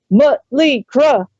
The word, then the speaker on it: Mötley Crüe: played in Germany, because the crowd started chanting, "Mötley Crüe, Mötley Crüe." And they were like, "Why are they saying it like that, dude? Why are they mispronouncing it?" And I was like, "The umlauts, dude." They were actually correctly using the umlauts.